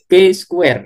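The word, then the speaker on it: chi: Jadi nanti untuk kasus ini kita akan analisis menggunakan uji C square ya atau ini biasanya cara membacanya K squ gitu ya.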